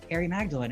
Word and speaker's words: Harrie Magdalene: So I thought, oh gosh, Harrie Magdalene, it rhymes.